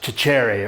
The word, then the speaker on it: Cecere: If you ask Italian, um, they say that my name is supposed to be pronounced chicherry or chere or something like that. My dad taught me years ago to say ceir but having taught for